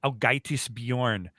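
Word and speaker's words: Ágætis byrjun: And that record is pronounced, I believe, Ágætis Björn, because I covered that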